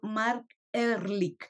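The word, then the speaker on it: Marc Ehrlich: Yo soy Irma Gallo y me acompaña el doctor Mark Ehrlich. Espero haberlo Ándale, pronunciado bien.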